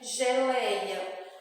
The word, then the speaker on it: geleia: Equipe, kiwi, guepardo, GUE, geleia. O G tem som de J, porque o G veio antes do E.